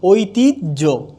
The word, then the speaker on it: ঐতিহ্য: না, হবে না, কারণ আমরা বলছি কখনোই উচ্চারণে অন্ত্যেষ্টিয় জ হবে না। তাহলে হবে কি? ঐতিহ্য। তাহলে হবে ঐতিহ্য।